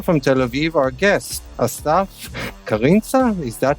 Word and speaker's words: Krintza: Tel Aviv our guests karinza is that how you pronounce your name I forgot to ask you before we started almost krinta that's the pronunciation cool cool so hi